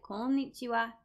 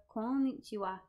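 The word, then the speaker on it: こんにちは: Now, what you might notice is that some words, like konnichiwa and also konbanwa, they have the character ha at the end, but it's pronounced wa.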